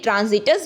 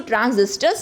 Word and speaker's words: ट्रांजिस्टर्स: कल मैंने गलती से यहाँ पे प्रोनाउंसिएशन मुझसे गलत हो गया था, कल मैंने ट्रांजिटर्स बोला था जो कि गलत है, इसको ट्रांजिस्टर्स बोलते हैं।